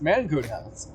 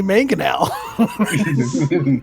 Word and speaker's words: mangonel: The big one is mango nuts. And you know what I hate about that just now? I pronounced it absolutely correct without struggling. I was about to tell you to say mangonel.